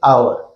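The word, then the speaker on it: hour: एन आवर pronunciation देके आवर.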